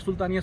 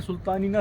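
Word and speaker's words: Sultanina: यहाँ पे सुल्तानिया उसको कहा जाता है ना, but that is नॉट सुल्तानिया, सुल्तानिना सी।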